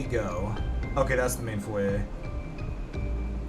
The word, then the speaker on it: foyer: Notice how I pronounced it foyer? Because otherwise the French people in here get really pissy with me. If I call it foyer, they're like, ew, Mango, ew, how dare you pronounce consonants? How dare you pronounce consonants in that language? Language. Ugh. French. It's pronounced foyer. In our outrageous French accent.